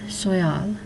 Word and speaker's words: soyal: It ends in a consonant, so you accent it on the end, soyal.